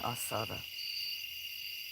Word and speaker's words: asada: Carne asada. Because that's how you say it, asada.